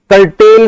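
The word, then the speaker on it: curtal: Sonnet was written by, ये इन्होंने कर्टेल कर रखा है, वैसे कर्टल है अगर हम देखें तो। हाँ जी ये कर्टल है, स्पेलिंग क्या इसकी बनेगी, सी यू आर टी ए एल, कर्टल, सी यू आर टी ए L, correct बच्चों।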